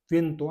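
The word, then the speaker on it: vento: उसके बाद में वी ई से वी ई N plus T ओ, वेन plus तो, वेन तो।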